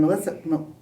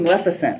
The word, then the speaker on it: Maleficent: Ka and then we have Harris Dickinson from Melissa that name Maleficent Maleficent Maleficent oh okay I'm saying it wrong anyway um